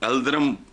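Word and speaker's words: Yıldırım: तो उसने तैमूर ने यल्दरम को, एल्दरम प्रोनाउंस करते हैं, मैं लोकल में उसमें कर रहा हूँ, कैद करके उसके हरम पे भी कब्जा कर लिया था।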